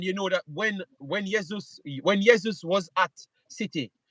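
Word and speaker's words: Jesus: Zeus yes yes Zeus yesus all right so uh um Jas J says I pronounce the name wrong now yeus well that's what I've heard the people from Brazil called him so I don't know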